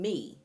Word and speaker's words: mi: It's spelled M-I, but you're saying me, okay?